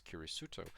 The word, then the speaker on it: キリスト: is a plus, and Christian being pronounced as Kirisuto.